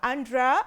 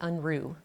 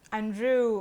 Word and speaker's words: Unruh: Uh have I pronounced your second name right? How is how am I supposed to pronounce your full name? Dr. Janie Anrew. Andrew. Okay, I did it wrong.